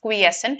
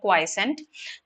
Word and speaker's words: quiescent: here the word quiescent this is pronounced as quiescent not quiescent quiescent has been underlined